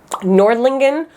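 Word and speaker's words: Nördlingen: say these wrong but i think they're pronounced nordlingen rothenberg of their tower and dinkles bull again sorry if that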